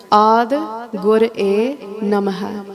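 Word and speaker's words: ਆਦਿ ਗੁਰਏ ਨਮਹ: Let's not rush through the Bani and say Ad Gur-e Namah, Jugad Gur-e Namah. Maharaj didn't write it like that.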